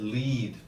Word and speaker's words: lead: Another also a pronunciation one, you said lead. The metal is called lead. It's spelled L-E-A-D, L-E-A-D. Lead and lead. Same spelling, but the pronunciation is how you tell the difference.